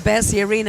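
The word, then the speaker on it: Bercy Arena: the way it is the bery arena is that how you say it Ellie it's the Bey Arena AG in yeah that's very close so this is where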